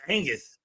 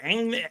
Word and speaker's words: Agnes: I thought it was Angus. Is it Angus? Is it Agnes? It's Agnes. My bad, Agnes. I'm saying it wrong.